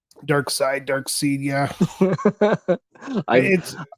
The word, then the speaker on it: Darkseid: Um, so you call him Dark Seed. Dark Side, Darkseid, yeah. I've It's I've because I'm always reading, wondered because it's spelled Dark Seed. yeah, and it's Dark Side.